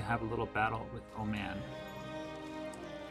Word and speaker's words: Oman: It's like Hormuz is going to have a little battle with Oman. I know it's pronounced Oman, but I can't help myself.